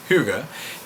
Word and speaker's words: hygge: A esta palabra, hygge, se escribe hygge, pero en realidad se dice hygge, es el sentir de estar cómodo.